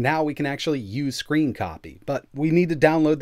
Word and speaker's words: scrcpy: it's time to get screen copy installed as you can see it's spelled scr c-p-y but it's pronounced screen copy right here over on